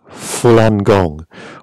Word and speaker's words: Falun Gong: elites obviously not us have you heard of fulan gong or flam daffa maybe pronouncing that wrong full angon f-a-l-u-n gong g-o-n-g